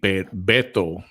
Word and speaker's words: Beto: Calls himself the affectionate name Beto is how you say that.